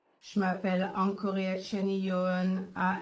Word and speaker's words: Angkoreacheany: Je m'appelle Encore Chen A n g o r e a c h e a n.